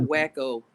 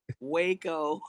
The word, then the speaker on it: Waco: Wait, not Wacko. Not Wacko, Texas. How you say it? Waco.